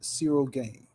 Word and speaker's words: Ciryl Gane: event Jon Jones versus Cyril game is that how you say his name yeah that's how you